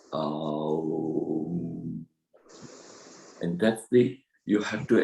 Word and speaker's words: Aum: The pronunciation of Aum is Aum.